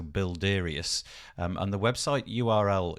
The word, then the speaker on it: Builderius: tool quite like this it's called bildarius again apologies if i've pronounced that incorrectly but the spelling of it is easy it's builder with ius so bilderius um and the website